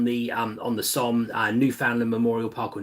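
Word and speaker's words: Newfoundland: Yeah, Sheffield Memorial Park's a good one on the um on the SO New Foundland Memorial Park or New Finland Memorial Park, I should say, is how it's kind of pronounced.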